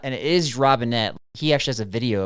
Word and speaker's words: Robinet: uh Robinet and that's not and it is Robinette.